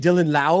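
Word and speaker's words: Dylan Laube: is right lby lby Dylan La it's a silent E there la la Dylan La is a rookie from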